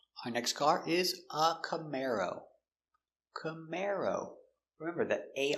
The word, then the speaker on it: Camaro: Camar camar camar o camaro. Camaro stress on the second syllable.